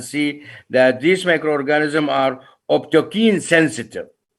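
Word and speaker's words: optochin: I would like you to go back to the table and see that these microorganisms are optokine sensitive. Some people, I said, pronounce it optocine, or they are bile soluble.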